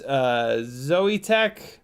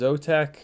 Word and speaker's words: Zotech: Fat Pastor says it's Zoetech. It's actually pronounced Zotech.